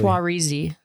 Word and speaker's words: Saoirse: I can never pronounce her name right, but it basically... Saoirse.